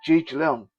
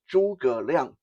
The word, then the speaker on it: Zhuge Liang: I know in English it often looks like Zhuge Liang, but that's not how it's supposed to be pronounced. Okay, to pronounce it properly is Zhuge Liang.